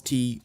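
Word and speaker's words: 茶: In Mandarin and Cantonese, it's pronounced cha. So if a language calls tea some variation of cha, then tea reached them overland by way of the Silk Road. But in Min Chinese, spoken in the coastal province of Fujian, the character is pronounced te.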